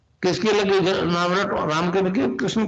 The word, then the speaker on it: क्लीं: है, किलोमीटर में फैलेगा, उसका होता है एक शब्द क्लींग शब्द, क्या आधा ला में मिला हुआ, बड़ी की मात्रा और बिंदी, उसका उच्चारण होगा क्लींग गा। गा की ध्वनि निकलेगी पीछे।